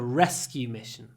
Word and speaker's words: rescue mission: took part in the rescue mission and here we have a compound noun so the stress is on rescue mission is unstressed Rescue Mission Rescue Mission